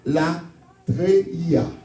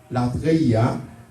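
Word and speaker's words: latreia: Pour aujourd'hui, que nous pourrons utiliser l'anza et mot ça, que nous pourrons développer pour nous-mêmes, là, qui est la treia. La treia. Si vous voulez prononcer, ma appelé pour vous-même, c'est L-A-T-R-E-I-A.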